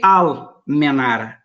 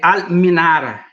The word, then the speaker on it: Al-Minara: E aí, uma curiosidade, por que Al-Menara? Ou a pronúncia mais correta é Al-Minara, que eu tenho um cunhado sírio, e aí ele me corrigiu a pronúncia.